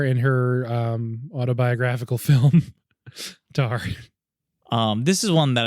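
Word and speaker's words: Tár: good the next one rhymes with r r r and has the probably runaway front runner for best actress it's tar oh tart tart tar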